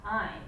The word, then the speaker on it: Ayn: name is in fact Ayn. And the trick I tell people is that, in keeping with her philosophy, the correct pronunciation of her name rhymes with the word mine.